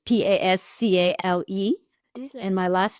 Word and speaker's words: Pascale: listening, So Pascal is Pascale. So a lot of people say, well, that's a man's name, but it's without an E when it's an E at the end. It's feminine. So it's Pascale.